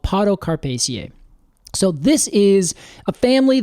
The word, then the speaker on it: Podocarpaceae: Podocarpaceae is right.